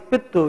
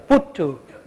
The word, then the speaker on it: puttu: You have this pittu, you know. How do you say it? Pittu? Yeah? Puttu. Puttu.